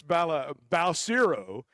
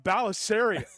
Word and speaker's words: Balcero: And it's just Well, and you know, we had that kicker, Chris Balcero. Houston called him Balisario for like four or 5 years.